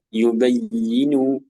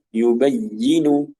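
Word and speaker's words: يُبَيِّنُ: saja iya contoh lagi misalnya pada pengucapan yubayyinu yubayyinu ini yang tepat ya kebanyakan seseorang dia membaca yubayinu yubayinu ya menekan pada harakat kasrahnya ya Menan pada harakat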